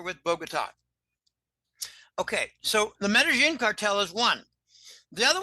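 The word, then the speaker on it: Medellín: Okay, Medellin, but it's pronounced Medellin. Medellin. I'm pronouncing like an American would who doesn't know shit from Shinola about Spanish.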